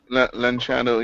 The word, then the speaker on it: Lanciano: We got to, these, I don't think the blood miracles, the Hand of Mary, how do you pronounce that? Lanciano, yeah.